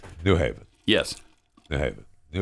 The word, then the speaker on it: New Haven: get it so it's new haven yes they have it it was new haven new haven connecticut new haven so the accented gran is on the second word he's on the second